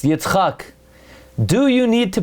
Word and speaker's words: Yitzchak: There is no name Yitzchak. It's Yitzchak.